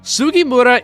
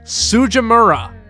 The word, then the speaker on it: Sugimura: Sugimura isn't exactly an uncommon name, but the dub somehow managed to screw it up, having characters pronounce it as Sujimura.